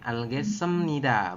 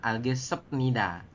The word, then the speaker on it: 알겠습니다: Ketemu dengan nien, maka biep berubah bunyi menjadi m. Ne algesemnida, bukan algesepnida. Anio ya.